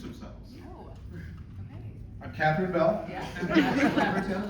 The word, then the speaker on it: Labyorteaux: Yeah, Labyorteaux, Labyorteaux, is how you say it.